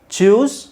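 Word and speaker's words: chose: begin bring by ಚೂಸ್ ಚೂಸ್ ಚೂಸ್ ಚೂಸ್ ಚೂಸ್ ಇವೆರಡು ಒಂದೇ ಹೆಂಗೆ ಆಗುತ್ತೆ ಇಲ್ಲಿ ಡಬಲ್ ಓ ಇದೆ ಇಲ್ಲಿ ಸಿಂಗಲ್ ಓ ಇದೆ ಸ್ವಲ್ಪನಾದರೂ pronunciation change ಇರಲ್ವಾ ಚೋಸ್ ಚೂಸ್ ಚೋಸ್ ಕಮ್ came okay ಇದನ್ನ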